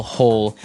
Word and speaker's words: hoe: if you want to make maybe a small hole in the ground you would use a spade